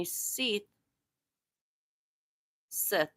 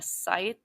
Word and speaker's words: scythe: black hood and a SE Sith I don't know comment down below cuz I know I said it wrong a scythe SE Scythe well anyways